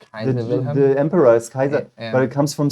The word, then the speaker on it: Caesar: The way the C is pronounced is Latin, Oh, okay. like Kaiser. Oh, okay. You know, Caesar is Kaiser.